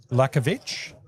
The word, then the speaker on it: Lakovic: And there's Stev Lakovic is how you pronounce it.